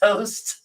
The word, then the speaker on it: Toest: So I had to spell it like toe, like your foot toe, st. TOEST, toast.